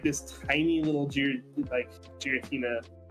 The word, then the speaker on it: Giratina: You like, how do you pronounce it? Is it Giratina or Giratina?